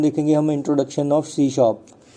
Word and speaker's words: C#: सो इसे हम कैसे प्रोनाउंस करते हैं, सी हैश या सी शार्प। मीन्स हैश नहीं कहने का, सिर्फ सी शार्प कहना है।